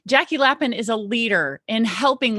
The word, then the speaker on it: Jackie Lapin: And I have with me Jackie Lapin.